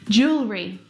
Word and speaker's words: jewelry: Jewelry. Jewelry. Jewelry. Again, we've got an extra vowel here that we don't need to pronounce.